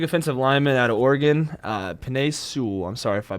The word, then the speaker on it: Penei Sewell: So I'm going to say take the big offensive lineman out of Oregon, Penei Sewell. I'm sorry if I butchered his name.